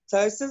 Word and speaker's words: phthisis: Thysis Prognosis is bulbi, good. ठीक है? P is silent. Thysis bulbi means the eye